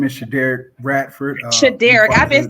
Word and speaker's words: Shaderrick Bradford: ahead and introduce yourself actually my name is Shader Ratford Shader I've been saying it wrong in my